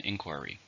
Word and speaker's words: inquiry: formal question countable noun how many syllables are an inquiry there are three stress on the first inquiry we receive some